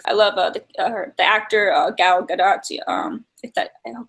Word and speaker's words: Gal Gadot: has to offer I love her actor uh gal gadot yeah um that I know that's how you